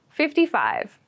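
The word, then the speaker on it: fifty-five: 44 exams this year 55 55 55 so 55 is the number after 54. make sure to clearly pronounce the 50 so that you don't make a mistake it might sound like 15 if you don't pronounce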